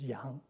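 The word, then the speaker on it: 洋: This part tells you that it's pronounced something like yang. And in fact, it is pronounced yang.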